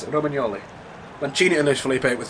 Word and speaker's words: Romagnoli: Across their back three, they have Romagnoli, who, asked how were you apparently supposed to pronounce it, Romagnoli.